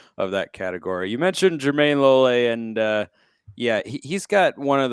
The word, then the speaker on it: Jermayne Lole: So it is Jermayne Lole, correct? Yes. Not Jermayne Lole. Jermayne Lole. Yes.